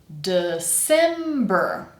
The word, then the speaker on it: December: And then we have our strong syllable which is sim sim. So again we have this e sound we've been hearing a lot. S e sim. And then our last syllable, just like the last three that we saw, is br.